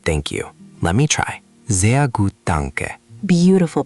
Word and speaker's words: sehr: Sehr gut, danke. Beautiful pronunciation. That R in sehr is nice and soft, just like a German speaker.